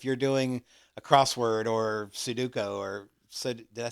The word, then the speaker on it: Sudoku: I mean, I guess you're kind of competing with yourself if you're doing a crossword or Sudoku or did I say it right? Sudoku.